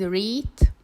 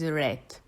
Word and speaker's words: read: Watch out for the verb read, because even though it has the same form as the base form and the past simple form, you pronounce it differently. So in infinitive it's read, and in past simple form it's read.